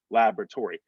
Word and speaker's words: laboratory: still like pr preposterous laboratory the accent they have is on the second syllable we accent the first laboratory one and three laboratory they just hit that first one so it's gonna sound like uh or the second one i should say so it's gonna sound like laboratory laboratory again that o-r-y is